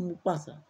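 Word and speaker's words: Maupassant: মোপাসা মোপাসা কি ছিলেন মোপাসা উচ্চারণটা হচ্ছে মোপাসা এম এ ইউ পি A double S এন টি মোপাসা মোপাসা ছিলেন একজন শর্ট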